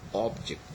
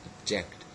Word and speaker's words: object: got object object okay object the first syllable is stressed and in the verb you would you have you've got object okay object so it is the second syllable which is stress so as a rule